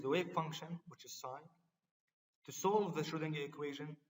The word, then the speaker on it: psi: This is written psi, but it's spelled as psi, but said as psi.